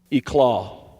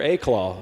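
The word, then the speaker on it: éclat: happy the second word e claw that's right i use an sat word here e claw or a claw some would say is spelled e-c-l-a-t it means a brilliant display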